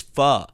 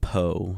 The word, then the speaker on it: pho: They went, it's pho. I wonder if there's anyone that has done like po or anything like that.